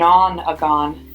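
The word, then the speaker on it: nonagon: long as closed in that's called an on agon I like the way it rhymes and Oh N hey ji o n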